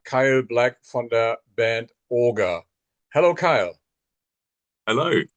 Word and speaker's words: Auger: We get a lot of different things from Auger to Auger to Ogre to all kinds of different things. So it's nice to hear correctly. It is Auger.